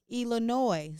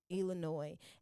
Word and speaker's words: Ilah Nois: And I am Ilah Nois. So my personal page is Ilah Nois on all platforms. That's Facebook, Twitter, Instagram, Snapchat. But with Instagram, it's at Ilah, ILAH_Nois, NOIS. And the S is silent.